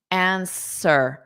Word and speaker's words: answer: So that W is silent because it's not pronounced at all. Answer.